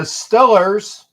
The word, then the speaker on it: Steelers: you kidding me the Steelers or let me excuse me they say correctly the stellers because that's how they pronounce it in that portion of Pennsylvania the stellars will get